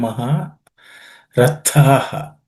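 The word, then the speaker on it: महारथाः: Mansyante tvam maha rathaha. Rathaha. The tha is also again aspirated. Maharathaha.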